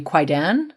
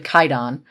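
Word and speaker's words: Kwaidan: Uh so this movie is going to be Quaidan. Um from uh or not Quaidon, it's actually Kaidon. Um the the W is silent in the name.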